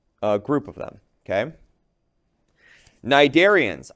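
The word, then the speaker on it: Cnidarians: Okay, nidarians. I know it starts with a c that c is silent. These are pronounced nidarians.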